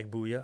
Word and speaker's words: Agbuya: I walked in, they go, hi, Mr. Agbuya. I'm like, you pronounced my name correctly.